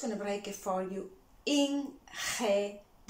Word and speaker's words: ingeniero: Again, we're gonna try to pronounce that as aspired as you can. I'm just gonna break it for you. Ingeniero. Ingeniero.